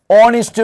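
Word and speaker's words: honest: ഇങ്ങനെയുള്ള വേറൊരു പദമാണ് ഓണിസ്റ്റ് മാൻ.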